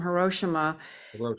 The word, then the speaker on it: Hiroshima: well the V from I I pronounce Hiroshima differently the Val from hirosima is basically the uh